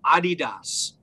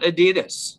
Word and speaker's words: adidas: talk to you about adidas now that's not adidas if you're listening in and you're saying that brian's saying it wrong he's not saying her wrong it's named after a guy named adi dassler his brother's name is